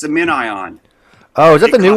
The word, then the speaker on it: MinION: A min ion. It's like spelled like minion.